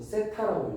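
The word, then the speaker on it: θ: 세타 어 이렇게 쓰고 세타라고 읽어 책에 보면이 기호 있을 거야.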